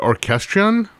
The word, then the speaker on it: Orchestrion: Is it Orchestrion? Yeah, absolutely. Yes. The Orchestrion, which was the big physical robotic band that Pat Metheny toured with for a while.